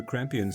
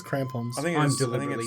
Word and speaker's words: crampons: not they the the kampion might be useful I did I pronounce it correctly it says crampons mispronouncing now you're throwing